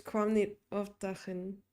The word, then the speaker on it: kwam niet opdagen: instead of a hard G, you would say like a like TV static. It's kwam niet opdagen, I'm assuming, Okay, which is like he too tough.